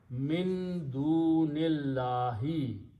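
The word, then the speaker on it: من دون الله: So final word is min dunillahi, other than Allah. So we don't need to pronounce off in English. Three words together, which is in the Quran. Min dunillahi, the three should be read together.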